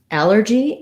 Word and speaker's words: allergy: to sound correct then when we look at the word allergy again we have first syllable stress so the a syllable is stressed but this time um it's letter a and it says the a black cat vowel so we also